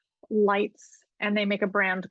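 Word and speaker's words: Leitz: Germany and uh the winery is spelled l-e-i-t-z lights and they make a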